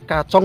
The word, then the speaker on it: Kacong: Berarti itu bacanya itu kacong ya, bukan kacung ya?